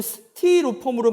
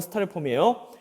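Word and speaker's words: Styrofoam: 우리는 스티로폼으로 많이 알고 있지만 사실은 발음 자체가 이게 Y 발음이기 때문에 스타이로폼이 맞대요. 실제 영어 발음은 스타이로폼이에요. 자, 얘 또한 탄화수소로 되어 있습니다.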